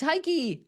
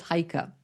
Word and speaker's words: Heike: Hi, I'm Heike, and it's Heike, and it's not pronounced the way it's spelled because most people say, "Oh, it's Heike." Nope, it's Heike.